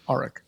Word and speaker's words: Arik: and it's it's pronounced arik just think of the r arik arik let me um